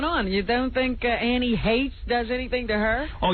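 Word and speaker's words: Heche: Pretty soon, I guess that's coming because in People magazine, she actually admits that she and that Annie Heshy whatever her name is. Hate. I've learned. Hate.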